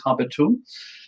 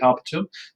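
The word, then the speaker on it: habitum: So let's start with the first word here, which is habeo, habere, habewi, habetum. That is how you say it. You always do the 4 principal parts, right? So habeo, habere, habewi, habetum.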